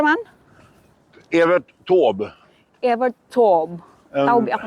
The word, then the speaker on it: Evert Taube: Hur uttalar man? Evert Taube.